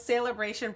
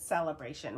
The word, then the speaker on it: Saleabration: call it Saleabration, and I'm seeing sale, S-A-L-E, Saleabration. So I wouldn't even know, like, I would imagine that's how it's pronounced, but I have heard other people pronounce it Celebration, which it just doesn't feel right to me.